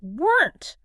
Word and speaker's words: weren't: again for the n, just immediately snap your tongue up to that ridge and bite down quickly on the n and t together. Just bite down on it. Yes. Do not let any air escape to make a second vowel sound. Just weren't. w e r n t, weren't.